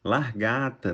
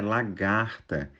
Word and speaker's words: lagarta: na verdade é coincidência largata na verdade é lagarta em intertido essa a